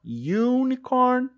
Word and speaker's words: unicorn: Ele vai ter som de you, igual você, né? You, então, ó, unicorn, use.